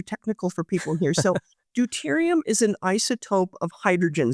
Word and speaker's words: deuterium: Deuterium, yeah.